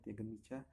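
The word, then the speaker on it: Teagan Micah: Ini kiper muda yang Tiagen Micah itu pronunciation-nya Tiagen Micah.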